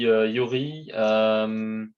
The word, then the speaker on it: Joeri: Je suis Yuri, depuis 7 ans chez Decathlon.